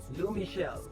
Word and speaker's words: L'eau Michel: How we pronounce that? L'eau Michel? L'eau Michel. And this is Miss Wood.